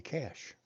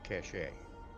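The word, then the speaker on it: cache: Some people mispronounce it cashache.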